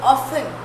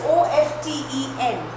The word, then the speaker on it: often: He often, children, when you pronounce this word often, you will see it is the spelling is O-F-T-E-N, but we do not pronounce T. It's silent. T is silent.